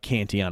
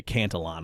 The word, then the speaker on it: Cantillon: Institute you may often hear about Canty on effects or maybe they might say cantle on effects if they pronounce the ELLs okay but what was